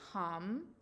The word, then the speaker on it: Ham: This is the sound hum, HAM, but it's pronounced hum.